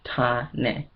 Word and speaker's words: Tane: My African name is Tane, and it's pronounced Tane.